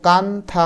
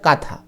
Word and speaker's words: কাঁথা: সেটা হলো নকশী কাঁথা এটার উচ্চারণ কিন্তু কানথা হবে না উচ্চারণটা হবে কাঁথা একটু পরে তোমরা জানতে